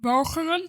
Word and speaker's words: Walcheren: 1 second and just give you the Dutch pronunciation of the island for fun. Yeah. You won't have to say it again after this sound, but it's pronounced Walcheren.